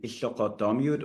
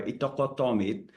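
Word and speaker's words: Ittoqqortoormiit: months in northeast Greenland, in Iqtoqottomiut or Iqtoqottomiit, as the locals say it. It's quite hard to pronounce, but if you want to show off to your friends, it's easy if you think about eat and then a duck and then meat. So eat duck meat, and if you say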